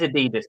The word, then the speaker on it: adidas: rest is very yeah it is adidas by the way that is the correct way to say it and also the correct